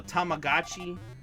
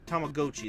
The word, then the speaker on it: Tamagotchi: if I give it, you know, it's a Tamagotchi. This one, you know, or Tamagotchi, there we go, my apologies. They think they pronounce it differently in this, because technically Gotchi is a different one.